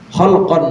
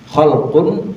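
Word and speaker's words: خلق: Ini sama-sama nih hurufnya nih banyak yang sama ko lam qof. Tapi yang satu dibacanya khalqun. Yang satu dibacanya khulu. Yang satu khalq, yang satu khuluk. Kalau khalq k lam kaf tapi dibacanya khalq itu artinya fisik. Tapi kalau dibaca khuluk itu artinya akhlak. Akhlak atau budi pekerti.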